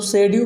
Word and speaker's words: pseudo: जो टॉपिक है बेटा सेमी मैट्रिक स्पेस, जिसको हम सब शेड्यू मैट्रिक स्पेस भी कहते हैं। पी को साइलेंट हम सब यहाँ लेते हैं।